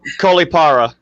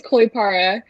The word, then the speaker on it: Kollipara: pronounce your last name um caulipara the last name is 100 right it is koi para there we go check